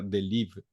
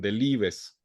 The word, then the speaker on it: Delibes: En francés nada más no pronunciamos la E y la S final, queda Delibes.